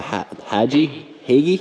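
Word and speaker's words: Hagie: The Hagee, is that how they say it?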